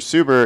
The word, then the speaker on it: Suber: super financial group and your name being mr suber it am i pronouncing that correct yes okay i take it